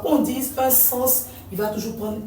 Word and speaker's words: sens: la prononciation parce que celui-ci écrit avec e là on va le lire sens on va lire le S final ce qui n'est pas